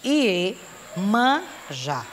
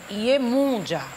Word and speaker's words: Iemanjá: Iemanjá. Mas a pronúncia correta é Iemunjá.